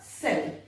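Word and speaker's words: cell: कैसे, सेल, यहां देखो सी के बाद में ई, तो क्या हुआ, ये कैल नहीं हुआ, ये क्या हुआ, सेल।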